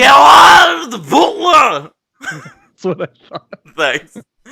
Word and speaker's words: Gerard Butler: How do you pronounce his name? Gerard Butler!